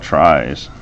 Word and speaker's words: tries: let's talk about tries and these are originally called trees but it sounds like a tree and it's spelled differently so they're called tries it's like a tree but